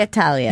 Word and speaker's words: Italia: Italia. Right? So does that mean we're pronouncing it wrong when we say should. Italy? We should. We should. We should say Italia.